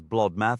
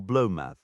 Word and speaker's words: Blotmath: It's worth noting common pronunciations often softened the names. Solmath became somath. Thrimage was frequently written as thrimmich or the archaic thrimmilch and blotmath was said as bloodmath or blowmath.